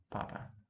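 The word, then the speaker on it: папа: Papa, papa. It's just, again, plain, papa, okay? No aspiration at all.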